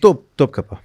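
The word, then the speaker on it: Topkapı: اگر اس کا تلفظ یہی ہے نا, ٹوپ کاپی, ٹوپ کپی, توپ کپا, توپ. اچھا توپ کپا, توپ کپا, کیونکہ ہارڈ ٹی نہیں نا ٹرکش لینگویج میں.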